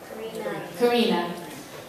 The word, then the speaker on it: Karina: How do you pronounce her name? Karina.